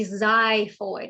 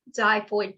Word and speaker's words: xiphoid: called the xiphoid process it's spelled with an x but it is the zyphoid it's pronounced as z zyphoid process this is the